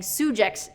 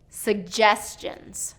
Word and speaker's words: suggestions: okay another one suggestions he was pronouncing first syllable stress and saying sujak's suggestions suggestions and it should be second syllable stress suggestions suggestions okay another one dictionary